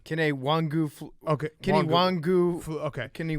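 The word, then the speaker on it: Kene Nwangwu: Kenny Wangu.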